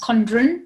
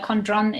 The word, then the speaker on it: Condron: uh yeah pretty much it's uh definitely how it's uh it's spelt it's uh often pronounced condren but uh condron is is fine yeah condren oh okay